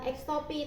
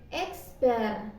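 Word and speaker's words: x̄: Nah, bacanya itu bukan X topi, tapi X bar.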